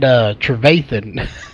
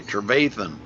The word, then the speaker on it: Trevathan: night, I believe, that he pronounces it Trevathan. he's one of teammates of HRE of mine, and he made fun of me because I mispronounced his name. Okay, Trevathan.